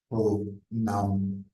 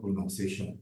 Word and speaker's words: pronunciation: or received pronunciation please note I did not say prounciation this is wrong there is no word like pronunciation there is pronounce but no pronoun pronounciation please take note it is called pronation it is called pronunciation so the r or